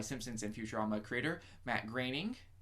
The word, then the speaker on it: Groening: and Futurama creator Matt Groening it's pronounced graining even though his name looks like it's spelled groaning okay yep and I'm